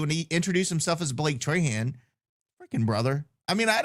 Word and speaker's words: Trahan: And then I'm listening to him interview, and he introduced himself as Blake Trahan.